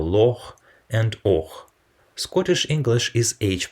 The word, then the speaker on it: Loch: as a strong tap another unique Scottish sound is ha pronounced in a small number of specifically Scottish words for example Loch and Scottish English is